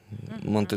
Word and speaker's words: манты: Манты. Но она особенность в том, что она на пару готовится. Вот именно на последнее ударение слова.